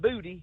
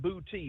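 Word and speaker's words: Boutte: there in bouti and that's not booty but booty b o u tte how spell that town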